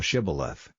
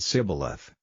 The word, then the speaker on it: shibboleth: said they unto him say now shibboleth and he said sibileth for he could not frame to pronounce it right then they took him